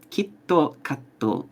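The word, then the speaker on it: キットカット: Kit Kat in Japanese is pronounced kitto katto, and kitto means certainly, without fail.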